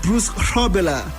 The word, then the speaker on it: Bruce Grobbelaar: Oh, so it's actually Bruce Grobbelaar. That's according to Pause coming through with the correct pronunciation.